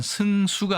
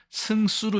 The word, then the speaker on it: 승수: 다만 승수가 아니라 승수로 읽는다고 되어 있기 때문에 발음에는 주의할 필요가 있겠습니다.